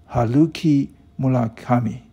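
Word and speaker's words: Haruki Murakami: is reading this story you pronounce my name probably wrong my name is uh haluki mula kami okay i think i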